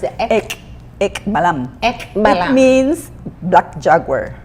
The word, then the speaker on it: Ek Balaam: How do we pronounce it? Ek Ballam.